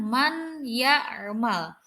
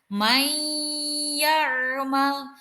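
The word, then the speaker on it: مَنْ يَعْمَلْ: adalah may your Mal penulisannya Man year Mall tapi pengucapannya bukan Man yarma melainkan maiyer Mal seakan-akan huruf nun nya hilang karena apa Karena Nur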